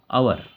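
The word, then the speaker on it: hour: here here मी्स बार आवर इसको आवर बोलते हैं हवर नहीं बोलते हैं इसमें एच साइलेंट होता है हवर हवर नहीं बोलेंगे आवर एन आवर होता है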